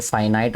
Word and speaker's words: finite: अपने टीचर से तो उन्होंने मुझे इसको फिनिट पढ़ाया था, फिनिट एंड इनफिनिट, ठीक है। लेकिन अभी मैंने इसकी प्रोनाउंसिएशन चेक की है गूगल से, तो ये बता रहा है कि ये फाइनाइट होता है और ये इनफिनिट होता है।